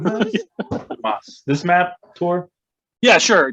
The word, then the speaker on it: Donbas: Donbas. Dumbus. Yeah. It's Every pronounced time they say it, it's Dumas. like dumbass. Donbas.